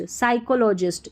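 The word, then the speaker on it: psychologist: challenging challenging साइको लॉजिस्ट साइकोलॉजिस्ट यहां पर भी पी साइलेंट है पी एस साथ में रहते हैं तो पी साइलेंट रहता है तो एस से पढ़ते हैं साइकोलॉजिस्ट साइकोलॉजिस्ट हैव ऑब्जर्व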